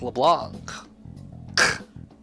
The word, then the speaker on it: Leblanc: It's, why do they pronounce it wrong? It's LeBlanc.